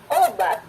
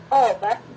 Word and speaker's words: obat: Muslim kalau tidak salah, kata obat, obat. Nah, sebelumnya itu ada glottal stop sebelum pada bunyi o. Jadi lokasinya seperti bunyi hamzah, obat, obat gitu ya, obat. Jadi ada hentian sedikit gitu di udara itu sehingga tidak terlalu lepas bunyinya, obat.